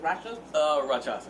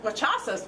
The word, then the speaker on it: Rakshasas: fighting with the werewolves and how do you pronounce the other set of monsters? Rakshasas.